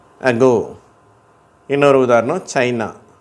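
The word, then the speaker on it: China: இன்னொரு உதாரணம் சைனா. சைனா கடைசியில் அந்த அ அதில் முடியுது பாருங்கள், சைனா அப்படின்னு சொல்லிட்டு அந்த அன்ற உச்சரிப்பு சைனா.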